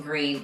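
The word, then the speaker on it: Gruene: go to Fredericksburg fourth on the list is green Texas and you spell that gr r u NE e it is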